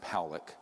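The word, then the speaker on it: Pawelec: 600,000 views this man William poock it's pronounced poic uh was a man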